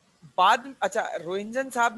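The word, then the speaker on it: Röntgen: रोहिंजन साहब ने in race को नाम दिया अननोन रेस का। बाद में इनका नाम कुछ टाइम रोहिंजन रेस भी रहा। TGEN होती है, स्पेलिंग देख लेना इसकी, रोहिंजन रेस भी रहा इसका कुछ नाम।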